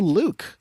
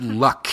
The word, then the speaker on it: Luke: So you head out to Luke, which is not a person, it's a village. I like to pronounce it as Luck, even though I know that's wrong.